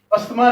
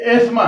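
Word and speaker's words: asthma: ये अस्थमा नहीं है, अस्थमा ये एस्मा है, इसको एस्मा बोला जाएगा प्रॉपर।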